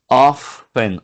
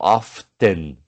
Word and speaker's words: often: Usually, often ou often, tanto fácil pronunciar de uma forma ou de outra.